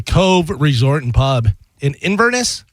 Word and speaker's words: Inverness: And the winner is the Cove Resort and Pub in Inverness. Is that how you say it? Yes, Inverness.